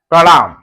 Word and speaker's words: प्रणाम: अब मतलब यहां पर इस पदेन की मात्रा का यहां पर पूरा पूरा र उच्चारण होगा। आधा प र और ण और म। तो इसे पढ़ते हैं प्रणाम।